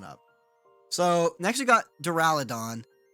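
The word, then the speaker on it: Duraludon: these Pokemon coming up so next we got duraladon doraladon that is yeah that's how you say it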